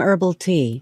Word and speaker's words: herbal: the owner of Hometime Herbal Tea. Herbal tea 나왔죠. 우리가 알고 있는 허브 티라고 하는 게 영어로 herbal이라고 발음을 해요. H를 발음을 안 하고 herbal tea 이렇게 발음을 하는 겁니다.